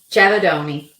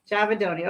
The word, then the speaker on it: Giavedoni: Giavedoni. Giavedoni.